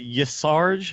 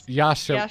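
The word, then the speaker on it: Y'Shaarj: how do you say, is it Yasarj? Is that how you say that? I have the pronunciation Okay. low down. It's Yasharaj. Yasharaj. Yasharaj. It's got Ya- Shah what? in the middle.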